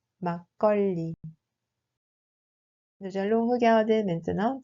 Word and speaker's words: 막걸리: Ce mot se prononce en réalité comme 막걸리. 막걸리.